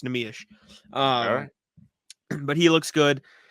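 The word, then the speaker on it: Neemias: and Bobby asked him how do you pronounce your name namish that is the name namish there's a shish Nish yeah so straight from his math no questions anymore it's namish um but he looks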